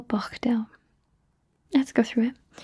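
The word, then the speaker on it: bochdew: know how to spell bachdal let's go through it b o c h d e w you really have to emphasize that c h brilliant perfect doing great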